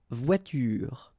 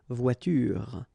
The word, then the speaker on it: voiture: But then you don't insist on it, so clearly you don't pronounce it une voiture. Same thing here. The last thing that you will hear is this r, voiture, voiture.